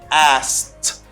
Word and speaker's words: asked: way to say and here you don't pronounce this letter okay don't pronounce this letter it's silent let's you just pronounce letter a and ask an idi that gives a t sound okay you say asked